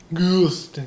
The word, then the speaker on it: Gustin: We got Grant Gustin. Gustin. You gotta say it like you're getting punched in the stomach.